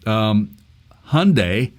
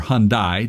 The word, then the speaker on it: Hyundai: Some of you may be aware of this or not aware of this, but Hyundai, or Hyundai, depending on how you want to pronounce that, has decided to get